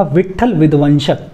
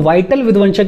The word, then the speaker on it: विट्ठल विध्वंसक: कुछ लोग वाइटल विध्वंसक भी बुलाते हैं। आपको जैसे भी प्रोनाउंसिएशन करना है करो। मेरी टंग पर विट्ठल विध्वंसक है, आपको जो ठीक लगे वो बुला लो, मैं बुलाऊंगा विट्ठल विध्वंसक।